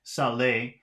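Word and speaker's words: saler: same so now we have c row C Saleh that's s-a-l-e-r then s-a-l-e with an accent mark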